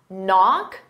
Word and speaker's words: knock: Knock, the K is silent, and off, because they go together, knock off, it's one word, I'm going to use that knock-off, cough.